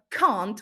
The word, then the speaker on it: can't: the pronunciation of uh the word can't which we pronounce with a long a sound cannot can't right the the contraction is can't are can't and then the word with a short a sound yeah so this can